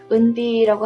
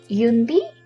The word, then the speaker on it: 은비: 때 EU를 쓰기 때문에 대부분 사람들은 윤비? 하고 읽더라고요. 윤비. 왜냐면 EU가 들어갔을 때 미국에서는 대부분 U라고 발음을 하기 때문에 그럼 제가 항상 고쳐주죠. 은비라고.